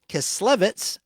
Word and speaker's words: Kislevitz: The Colorforms concept was developed by Harry and Patricia Chiclets, that's spelled Kislevitz, back in 1951, firmly rooted in the modernist design ethos and reflecting the color-field abstract style prevalent at the time.